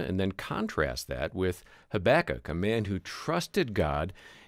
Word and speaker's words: Habakkuk: He'll address the Bible story of Jonah and then contrast that with Habakkuk, a man who trusted God in spite of some very difficult circumstances.